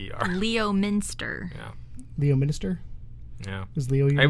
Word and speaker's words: Leominster: Well, it's Lemster, but Lemster? How would you say Lemster is spelled? Lempe... Oh, wait. P-E? Lempe-P-S-T-R. Lemster. Yeah, it's Leominster. Leominster. Yeah. Leo Minister?